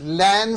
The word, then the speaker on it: LAN: fourth question for you el a and commonly pronounced as LAN stands for what its local area network this